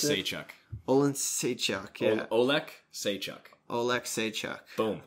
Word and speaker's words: Oleksiejczuk: How do you pronounce it? Oleksiejczuk.